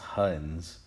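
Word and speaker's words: Huygens: man was dutch um it's pronounced huns i guess the y and g are a little bit silent use the diagrams to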